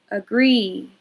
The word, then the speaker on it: agree: Agree. Agree. Agree. You hear that sound. Agree, that's the schwa.